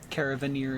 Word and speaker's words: Caravaneer: This here's what I love about being the Caravaneer. I always wonder how that's actually supposed to be pronounced. I just go with Caravaneer. Caravaneer is right.